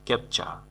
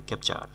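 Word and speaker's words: capture: ক্যাপচা অনেকে কিন্তু এটাকে উচ্চারণ করে ক্যাপচার। ক্যাপচার হবে না, ক্যাপচা সঠিক উচ্চারণ ক্যাপচা। ক্যাপচা মানে হলো বন্দি করা।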